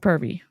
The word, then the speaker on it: Purvii: I mean, it is now pronounced that, especially on social media when you can't put the pure scan doesn't have the correct little identifications over the U, so it is per scan, like Purvii.